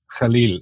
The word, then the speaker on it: Khalil: Khalil, if you want to pronounce it in Arabic. Khalil. But I love it. Khalil? I love it. Or you can Khalil. say Khalil if you want to anglicise it.